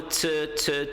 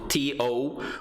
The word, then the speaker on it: to: de falar de pronúncia, não falem to com aquele bicão de pato louco, né? Porque não é to, é t, né? A gente mal mexe a boca para falar t.